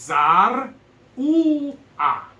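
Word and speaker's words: צרוע: It's Zar U-A. No, yeah, she said it. It's Za'ru'a, because that's a Zadeh. It's a TZ sound.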